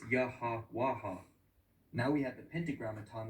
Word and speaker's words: Yahweh: is YH wh and that's where we get Yahweh or well there's no vowels in Hebrew so it's yaha waha now we have the